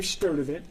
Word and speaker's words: Sturdivant: Before you leave, could you please restate your name and spell it in full title? Sure. It is, last name Sturdivant, S-T-U-R-D-I-V-A-N-T, Senior Vice President of Emergency and Support Services and Operations.